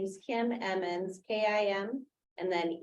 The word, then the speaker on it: Emmons: my name is Kim Emmons k-i-m and then e-m-m-o-n-s and I am Tara Timber's real estate agent and Tara Timber is our applicant and that was Emmons am I pronouncing it correctly yeah e-m-m-o-n-s thank you Miss